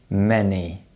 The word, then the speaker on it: many: It can be spelt with other letters, such as in the words many, again, guess, friend and berry, but these spellings are rare.